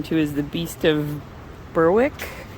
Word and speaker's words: Berwick: is the beast of berwick berwick spelled like besswick but they don't pronounce it that way um anyway the narrator